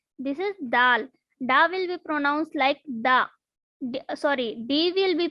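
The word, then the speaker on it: दाल: This is not dal. This is dal. Da will be pronounced like da.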